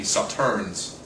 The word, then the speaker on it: Sauternes: of Saturn would be Saturns where you just chop the S same thing with suitor